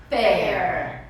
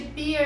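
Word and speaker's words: pear: fruta Pera né então a pronúncia correta é Perry Perry não é Bia o que eu já vi de pia na minha vida né eu ganhasse um real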